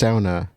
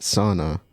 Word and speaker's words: sauna: It's pronounced sauna, not sauna.